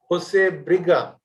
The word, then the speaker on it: José Brilha: People like me who are not, introduced to Portuguese way of pronunciation would easily call him José Brilha. But I'm told that, correct pronunciation of this speaker is José Brilha.